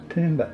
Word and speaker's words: Tooma: Tooma, or Toomba, Toomba, as it's pronounced in Ngarrigo, it's got a B in it, means Mother Earth.